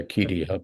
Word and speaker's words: acedia: Would you pronounce acedia? How do you say that? You can say it that way. I say Acedia, but you know.